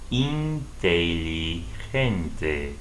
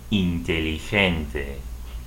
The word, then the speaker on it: inteligente: And for the word smart in Spanish, G followed by E, inteligente, inteligente.